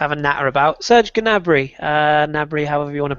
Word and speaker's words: Gnabry: Do we pronounce the G or is it silent? It is Gnabry technically, but it sounds silly.